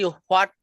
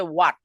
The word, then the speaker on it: what: WHAT, ডাব্লিউ এর sound হবে হ এর মতো, তাহলে WHAT হোয়াট, ও এর মতো হবে, হোয়াট হবে না, এটা হবে হোয়াট।